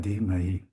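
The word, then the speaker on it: धी: Di Right. Thank you. Um, so the duh is an aspirated D is a D.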